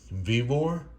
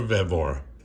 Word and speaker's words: Vevor: thank really quick the people of vivore or vevor sorry and that's got to pronounce it check out their store